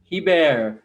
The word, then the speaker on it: Hebert: Hebert.